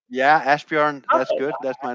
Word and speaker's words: Asbjørn: lot of energy yes ask yourself am i pronouncing your name correctly that's fine that's good ashburn is my name yeah ashburn that's good that's my name yeah it's a